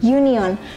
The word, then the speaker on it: union: Meskipun kata "union" dimulai dengan huruf U, pengucapannya seperti bunyi vokal Y.